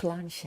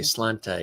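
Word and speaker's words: sláinte: It looks like slanty or slanta. First time I ever saw it. Okay. It's Gaelic. I would say slanta. And they're like, that's not how you say it, Jim. It's slancha.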